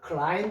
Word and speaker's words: climb: 어 근데이 B는 왜 소리가 없느냐?요 소리 안 나는 걸 뭐라 그랬어요? 예. 여기서 소리 내면 안 됩니다. 무음입니다. 무음이라 해서 소리 내지 않는다. 영어에서는 요렇게 소리 내지 않는 묵은자가 들어가 있는 단어들이 있어요. 많이는 없습니다. 근데 알아두십시오. 클라임 할 때도요 B자를 써 줘야 됩니다.